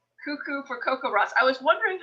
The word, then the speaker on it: CoCoRaHS: had to show this one cuckoo for coco ross i was wondering how you pronounce that um acronym so i'm glad i